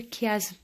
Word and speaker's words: chiasme: دونك انا كتبت لكم كيفاش كتنطق واخا سي اش ولكن سي لو كيازم كتنطق.